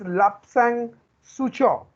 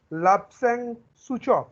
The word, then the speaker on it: Lapsang Souchong: The first word, his name is Lapsang Sucho. Lapsang Sucho. Please pronounce it with me. Please pronounce Sir, it with me. Sucho. Lapsang Sucho.